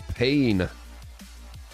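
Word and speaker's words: Payne: I'm pretty sure max pain one godlike cauldron lake here it's pain I know it's pain that's how you say you pronounce it in I'm pretty sure P A I N dead by morning.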